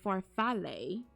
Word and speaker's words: farfalle: I used cavatappi and penne so much, but farfalle is fun to use. Cavatappi is like if you took elbow macaroni and made it slightly longer and turned it into a spiral. I know that one. And farfalle, that's how you say it, is bow tie